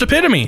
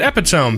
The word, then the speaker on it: epitome: It's pronounced epitome. Just sounds dumb and not correct to me. I would pronounce it epitome.